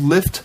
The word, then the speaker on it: Lyft: rare uh there's a ride share Community called lift pronounced like Lyft but spelled with a Y and